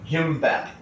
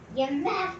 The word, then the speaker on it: kimbap: And then we're making Kimbap. Kimbap.